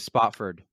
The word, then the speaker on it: Spofford: I grew up in a super small town in New Hampshire, Spofford, New Hampshire. I Not many people know Spofford, but they might know Chesterfield or Keene, New Hampshire. Okay. I've never heard of Spofford.